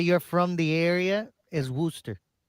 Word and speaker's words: Worcester: I mean, like people say Worcester and it's more like Warchester. You know what I mean? Some people just pronounce things weird way.